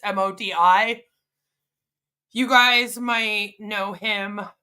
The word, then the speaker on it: Modi: It's Modi.